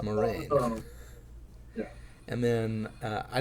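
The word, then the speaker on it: Moiraine: And I realized the first time through I was also mispronouncing Moraine's name because I pronounced it Moiran, and then I realized, oh, it's Moraine.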